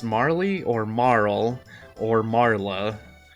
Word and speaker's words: Marle: So, I think in Marl, yeah, I think in traditional Japanese, in like when you translate the original text or whatnot, it's pronounced Marl, but I don't care.